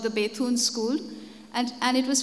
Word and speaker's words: Bethune: exists it's called the Bethune school and and it was founded by the English John drinkwater Bethune whom I believe in England is pronounced as beaten but we bengalis have got around that and he was the